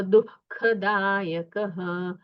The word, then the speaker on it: दुखदायक: पढ़िए कर्मणान कर्मणान दुखदायक हां ये ख है महाप्राण है सो दुखदायक ककारकार नहीं है ख है ख महाप्राण है तो आपको उच्चारण खैरना है दुख दुख दायक धन्यवाद